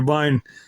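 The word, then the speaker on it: Wein: The German W is pronounced with a V sound, so it would be vine in German.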